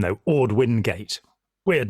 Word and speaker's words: Wingate: Throughout Israel, there are streets named after Ord Wingate, which is pronounced Vingate in Hebrew.